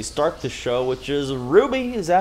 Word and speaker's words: RWBY: decide to actually start the show which is ruby is that how you pronounce it ruby yeah ruby rwby red white beige and yellow i'm just